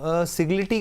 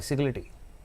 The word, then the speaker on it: Sagility: Yes ma'am, it's SAGILITY, सिग्लिटी। Okay, screen पर आ गया ma'am. आप इसको सिग्लिटी बोल रहे हैं, मैं सिजिलिटी के नाम से याद वो मैम रखती हूँ। प्रोनाउंसिएशन अपनी अपनी जी।